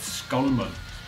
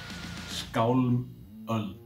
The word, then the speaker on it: Skálmöld: Skálmöld is pronounced Skálmöld. Skálmöld. It's an old Icelandic word which means age of swords. The first part, skál, means sword, and the second part, öld, means age, 100 years. So, Skálmöld, age of swords.